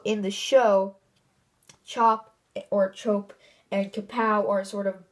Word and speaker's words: Chope: He's another Anaconda warrior, and his name is Chope. Well, or I say Chop, but his name is spelled with an E at the end. It's Chope. So I'm not sure if it's Chope or Chop.